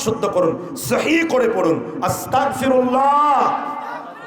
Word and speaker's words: আস্তাগফিরুল্লাহ: তারপর কি বলবেন আস্তাগফিরুল্লাহ জোরে বলেন এখানে অনেকে আস্তাগফুল্লাহ পড়ে বসে আছে আস্তাগফিরুল্লাহ উচ্চারণ করুন তালাফফুস শুদ্ধ করুন সহি করে পড়ুন আস্তাগফিরুল্লাহ আস্তাগফিরুল্লাহ মানে আল্লাহ আমি ক্ষমা চাই আর